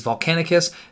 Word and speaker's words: Volcanicus: start with the name a lot of people are already mispronouncing it there is a second C in the end so it is volcanic Asst the firey champion one